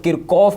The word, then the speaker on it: Kirchhoff: कई लोग किरकॉफ भी प्रोनाउंस करते हैं इसको, मैं बोलता हूं किरचॉफ, किरकॉफ भी बोलते हैं इसे।